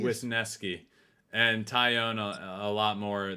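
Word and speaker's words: Wesneski: how do you say his last name Rob with nesky with nesky and tyown a lot more than we have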